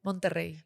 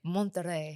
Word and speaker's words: Monterrey: Monterrey. Monterrey. Yeah, you got it. Monterrey.